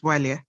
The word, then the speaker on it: Bwalia: Bwalia, have I pronounced your name right? Yes, you have. It's Walia. My take, and I just build on what you've said.